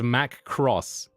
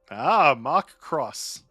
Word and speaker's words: Mark Cross: It's Mac Cross. Mark Cross. Mark Cross. Love it. We will we'll make sure to say it like that every time now.